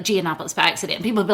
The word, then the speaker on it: Giannopoulos: I went to another website and put in the name, and globally it's pronounced Yiannopoulos. Mm-hmm. So if I go anywhere else but the U.S., right, it is Yiannopoulos.